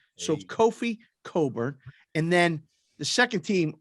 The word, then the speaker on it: Cockburn: His last name looks like Cockburn, but it's pronounced Coburn. So Kofi Coburn.